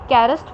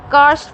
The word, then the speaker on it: karst: अब इसकी भी आगे से फर्दर 3 टाइप्स हैं आपके पास: कैरस्ट planes, ओलियन plains and glacier planes. कार्स्ट plane, sorry मैंने गलत प्रोनाउंस कर दिया उसको, दिस इज कार्स्ट प्लेन।